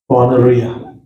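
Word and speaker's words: πονηρία: आता है, वो है पोनेरिया। पोनेरियास या पोनेरिया। इसको प्रोनाउंस ऐसे करते हैं, पॉन ए री आ।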